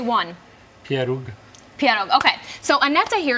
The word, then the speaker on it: pieróg: Pieróg.